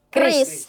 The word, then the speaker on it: KRIS: kalian langsung di heh bukan curis tapi Kris. Nah, dicatat ya sobat tradik pengguna Kris karena jangan sebut curis lagi tapi sebutnya langsung Kris. Kris. Betul. Pakai pelafalan Indonesia.